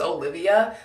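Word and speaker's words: Oliwia: different like i think in poland it's spelt like o l i w i a but it's still pronounced olivia so i have a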